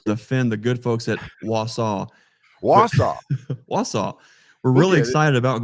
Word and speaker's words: Wausau: Hold on, my friend, because you just made enemies right there, because it is not Wausau. Oh, no. How do you say it? Say it. Wausau? Wausau.